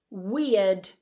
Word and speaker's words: weird: Weird. Weird. So notice again that that R isn't pronounced.